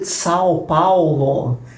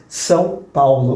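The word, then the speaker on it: São Paulo: उदाहरण के लिए, मैं ब्राज़ील से हूं, और जब भी कोई कहता है कि मैं "साओ पा-ओ-लो" गया तो मैं अंदर से मर जाता हूं। सही उच्चारण "साओ पाउलो" है।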